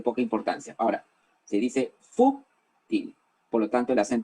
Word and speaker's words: fútil: palabra superficial de poca importancia ahora se dice fu ting por lo tanto le hacen toca el agua